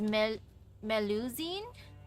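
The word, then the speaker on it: Mélusine: So, like, the French pronunciation is Melusine?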